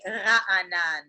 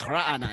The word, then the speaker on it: Raanan: It's actually Raanan. Yeah, you got to have you got to be able to make a guttural sound to correctly pronounce my name. I can't do it. It's like Raanan.